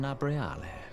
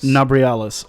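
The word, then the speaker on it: Nabriales: How do you pronounce it? I am Nabrialis. Nabrialis.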